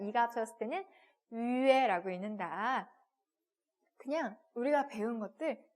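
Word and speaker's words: 月: 그래서 표기는 Y, U, E라고 표기를 하고 읽을 때는 어떻게 읽는다? 위에라고 읽습니다.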